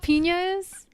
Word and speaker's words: piñas: Spanish for pineapple yeah it's spelled with on Enya it's like an N with a little over it you know what I remember that now from likes you pronounce that as yeah yeah yeah like Nina yes Nina I don't know why